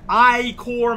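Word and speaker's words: Ichor: return but we got big dog here and i core mountain as is pronounced in shovel knight it just sounds weird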